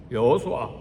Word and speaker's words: 여호수아: 이름의 뜻이 뭔가 구약에서 예수의 이름 뜻은 이름 발음은 여호수아예요 여호수아 여호와가 구원하신다 그런 뜻이